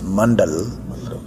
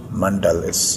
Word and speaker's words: mandala: a light cell is originated from the Sanskrit language and actually is a dr. mandala it's mandala mandala the proper pronunciation of